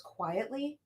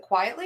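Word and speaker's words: Quitely: his name wrong but I thought it was quietly is it quietly is that how you say right that is correct okay dope okay so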